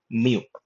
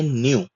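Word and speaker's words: ν: और उसी के साथ हम लोग सीखेंगे न्यू। न्यू भी कैपिटल में एन की तरह है और उसका उच्चारण भी न का है।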